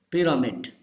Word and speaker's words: pyramid: Say this word: pyramid. This Y gives the sound of E.